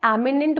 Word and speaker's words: eminent: एमिनेंट बोलते हैं, इसको हम बोलते हैं इमिनेंट, बोथ आर एडजेक्टिव।